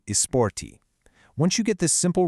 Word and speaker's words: esporte: The e at the beginning and the e at the end both undergo shifts in everyday casual speech, transforming the whole thing into esporte.